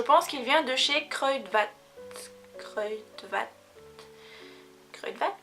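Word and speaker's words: Kruidvat: qu'il vient de chez crudvat crudvat crudvat ça se prononce comme ça CRE VAT je pense enfin j'espère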